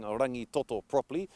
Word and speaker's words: Rangitoto: beautiful magnificent island called rangitoto here in tamaki makoto now the key to pronouncing rangitoto ng sound also sounds like singer the ng sound and